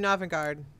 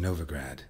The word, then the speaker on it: Novigrad: so what's new in novagard any news from novigrad novigrad oh I've been saying it wrong the whole time I've